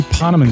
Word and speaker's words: Ponemon: Ponemon?